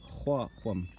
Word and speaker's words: Xwaaqw'um: And I just wanted everybody to know how to pronounce this wonderful word for this wonderful place. Xwaaqw'um.